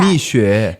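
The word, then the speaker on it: Mixue: Have you heard of Miku? Mishu. M I X U. How do you pronounce that? Mishu.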